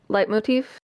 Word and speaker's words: leitmotif: Leitmotif is the right pronunciation.